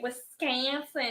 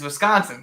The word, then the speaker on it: Wisconsin: don't like we have shirts here that say wiscanson because that's all the people like the college um and like football announcers pronounce it yeah and we're all just like